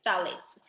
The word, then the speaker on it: phthalates: the next one is phthalates but it's spelled with ph ph t-h-a-l-a-t-s phthalates um this is found